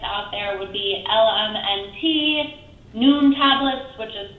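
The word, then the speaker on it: Nuun: other popular electrolytes out there would be LMNT, Noon tablets, which is spelled N-U-U-N.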